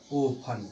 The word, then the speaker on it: often: ठीक है, तो अब इस स्थिति में टी का उच्चारण नहीं किया जाएगा और इसको क्या पढ़ा जाएगा गाइस, इसको पढ़ा जाएगा ओफन। क्या पढ़ा जाएगा, ओफन। ठीक है, कुछ लोग आफिन भी कहते हैं, ध्यान दीजिएगा।